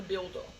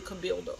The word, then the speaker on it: Cabildo: going to be at the how do they pronounce it? The Cabildo. It'll be at the Cabildo.